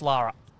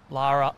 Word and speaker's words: Laura: Written down as Laura, pronounced Lara.